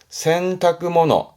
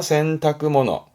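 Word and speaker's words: 洗濯物: 발음은요? 센타모너 센타모너합니다. 센타모너 요건 뭘까요?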